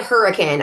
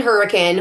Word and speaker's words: Hurricane: Option 2, stay in Hurricane, about 25 to 30 minutes away. I stayed in Hurricane, which by the way is spelled like hurricane, and yet don't say it like that.